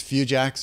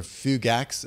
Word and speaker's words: fugax: we talked about amaurosis few jacks or fugax is another way that you can pronounce so that's classically associated